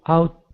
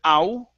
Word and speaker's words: ought: pronounced okay instead of ow okay the o-u-g-h is pronounced like an ah okay so so when